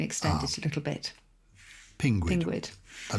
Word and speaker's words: pinguid: A bit like Pingu. So Pinguid.